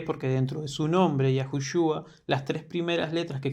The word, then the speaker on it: Yahushua: Por eso cuando cuando pronunciamos el nombre del Mesías es Yahu Shua.